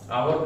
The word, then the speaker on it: hour: Adjective है और उसके बाद आवर का प्रयोग है, तो बीच में एडजेक्टिव और नाउन के बीच में किसका प्रयोग हुआ? एन का प्रयोग हुआ, क्योंकि एच साइलेंट है और प्रोनाउंसिएशन जो बन रहा है वो अ का बन